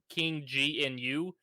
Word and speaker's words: King Gnu: go with specials by King new I don't know if I'm pronouncing it right it's King gnu it is the second